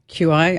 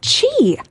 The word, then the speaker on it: Qi: No, it's chi. Chi. Yeah. Again, this is a Chinese term, so like we don't have this in English. It's chi. Who knew?